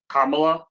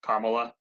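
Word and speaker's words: Kamala: Kamla, that's how you say her name, right? Kamla.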